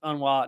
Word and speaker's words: UNRWA: beginning of this and I was pronouncing it unrwa apparently uh those in the know the the cool kids who spend a lot of time around un uh pronounce it unwa now I'm sure that